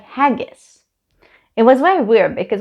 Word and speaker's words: haggis: like you never had huggies i'm like no i never had haggis haggis not hugs it's spelled with an a uh anyway so i